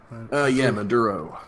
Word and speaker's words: Maduro: National Assembly was stripped of powers by President Maduro. Is that how you say his name? Maduro.